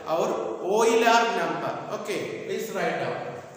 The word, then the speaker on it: Euler: Its pronunciation is Euler.